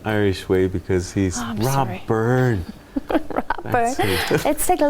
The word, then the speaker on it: Byrne: And you've got to say his name in the Irish way because he's Rob Byrne.